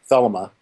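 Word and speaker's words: Thelema: like the Lima but I think it's pronounced theelma um religion and that kind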